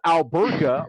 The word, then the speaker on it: Alberga: I think he lives in Toronto, but it's pronounced Alberga, like Alberta.